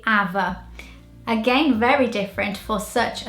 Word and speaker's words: Ava: Number 5, this one, Ava in British, and in Portuguese it would be Ava.